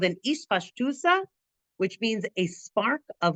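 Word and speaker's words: אתפשטותא: Hu raya mehemna hakavana bazeh he gam ispashtusa. That's how we're going to pronounce it. Okay, it's also pronounced itpashtuta.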